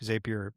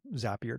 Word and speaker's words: Zapier: workflows as we've known them with things like Zapier, Zapier, depending on how you like to pronounce it, um would be that instead of